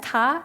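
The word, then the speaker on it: 龘: This one is pronounced as ta, and it means flying dragon.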